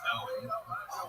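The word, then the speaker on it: Eoghan: It's spelled E-O-G-H-A-N, but it's pronounced Owen.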